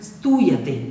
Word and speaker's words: स्तूयते: आधा सा का उच्चारण आधे सा जैसा ही होना चाहिए, इसमें ई लगा करके स्तू इस प्रकार से नहीं बोलना है, स्तूयते इस प्रकार से इसका उच्चारण करेंगे।